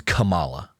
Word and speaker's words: Kamala: It's Kamala. So it's not Kamala? The emphasis is on the ka, the first syllable, Kamala.